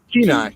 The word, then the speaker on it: Kenai: Second Horizon asks, have you seen the Kenai River? I think that's how you pronounce it. Kenai, yeah, the Kenai River.